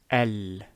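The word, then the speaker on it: ال: attached to the word this is always pronounced as el and you probably have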